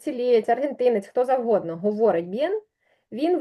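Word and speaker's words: bien: справжній там Іспанець цілієць аргентинець хто завгодно говорить б'єн він вимовляє це б не як би ми сказали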